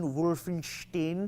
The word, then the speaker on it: Wolfenstein: genre or Wolfenstein whatever it's just like Frank and Frankenstein Wolfenstein I'm just pronouncing the